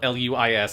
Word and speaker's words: Luis: no i love that everyone insists on calling him lewis even though he's from mexico and his name is spelled l-u-i-s and he is clearly named luis like yes it's like you